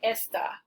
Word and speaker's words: esta: There's a difference in meaning between está and esta. In this case, it changes pronunciation as well.